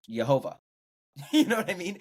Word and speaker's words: Jehovah: And then when you add in the vowels that were added in ancient Hebrew, it's pronounced Jehovah.